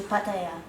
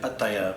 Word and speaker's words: Pattaya: So after that we moved to Pattaya.